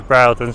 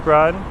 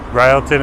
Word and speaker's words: Broughton: And this is Brattlton Street. Phonetically pronounced as Broughton. And that's phonetically pronounced by Google as Broughton. So Brattlton is the local pronunciation that you'll find out while you're here.